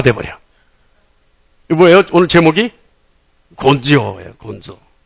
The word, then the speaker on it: 곤조: 곤조예요, 곤조. 이 곤조가 뭐예요? 근성이라는 한자어의 일본어 발음이 곤조예요.